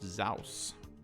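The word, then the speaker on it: SSAWS: Perhaps spring, summer, autumn, winter, snow, pronounced Zaus.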